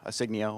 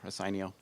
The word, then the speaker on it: Asignio: I'm the founder and CEO of Asignio, or Asignio. It's pronounced both ways.